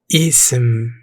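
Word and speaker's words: اسم: Pronounced Ism.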